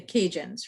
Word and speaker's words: Cajun: the kajan the cajuns the word cajun is actually the word acadian just pronounced differently right um so a